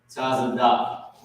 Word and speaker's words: Tazadak: Tazadak, right? That's how you pronounce it.